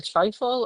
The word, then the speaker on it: trifle: I don't know how to pronounce it. It's either trifle or trifle.